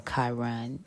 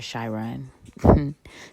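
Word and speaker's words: Chiron: your South node and if you do have a Kiron or shyon depending on how you pronounce that you need to assess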